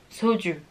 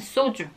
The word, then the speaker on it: 소주: Aquí suena un poquito extranjero. Soju. 열정, 소주. Pero los coreanos pronuncian soju.